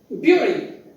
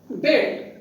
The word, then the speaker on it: bury: The pronunciation of this word is generally and mostly done as bury. That's the wrong pronunciation. In dictionaries, you will find this type of vowel sound. It is pronounced as bury, not bury. It is bury.